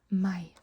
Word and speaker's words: meg: If you want to say excuse me, you can say unnskyld meg.